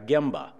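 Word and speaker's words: genba: impact on our patients another word here is gimble and you say that with the letter M sound even if it's spelled with an N but that is the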